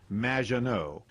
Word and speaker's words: Maginot: It's Madge, which rhymes with badge, as in duh, and no as in more than you. Maginot.